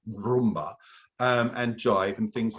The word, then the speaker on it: rumba: You've got to roll your R on rumba, haven't you?